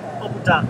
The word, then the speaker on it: appeltaart: Appeltaart with slagroom.